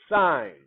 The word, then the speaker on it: sine: let's check it out s-i-n-e okay this is sign okay not like i'm holding a sign or p-sign okay but this is s-i-n-e you pronounce it sign okay now the next